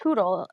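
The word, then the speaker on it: HODL: saying hooters so i'm going to go it's pronounced hoodle it's spelled h-o-d i think dennis could go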